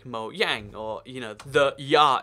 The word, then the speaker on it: Mojang: And this is interesting because I actually say Mojang because that's how, in Swedish and a lot of European language actually, the J is a Y sound, like Mojang, or, you know, the